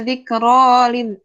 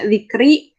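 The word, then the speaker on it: ذكرى: Cuma bisa dibacanya dzikra. Enggak nggak najwun gitu, enggak, sebenarnya mabni gitu. Kalau misalnya udah ada alif kayak gini, udah ada alif maksurah, biasanya dibacanya dzikro aja gitu, nggak bisa dzikri dipakai ya, tetap pakai alif maksurah enggak gitu.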